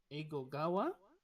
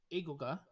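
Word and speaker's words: 英語: ga wakarimasu ka, or Eigo ga wakarimasu ka. When you read it, Eigo ga, you can try break it there and continue the word with the word wakarimasu ka.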